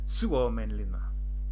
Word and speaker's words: Suomenlinna: The stress is always, every single time, on the first syllable.